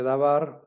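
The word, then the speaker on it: דָּבָר: Aquí dice Dabar, Dabar no cumple, ¿verdad? Dabar no cumple porque no es sílaba cerrada. Dabar es una sílaba abierta.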